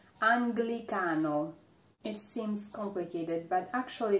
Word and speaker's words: Anglicano: And sometimes is pronounced gl, even when it's followed by the vowel E. But in this case, there's an N before the letter G. For example, Anglicano.